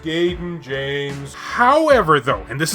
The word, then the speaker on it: Gaiden: gaiden kind of vibe it's pronounced gayden james however though and